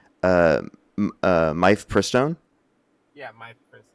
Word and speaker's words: mifepristone: I think it's mifepristone. Yeah, my first. It's mifepristone.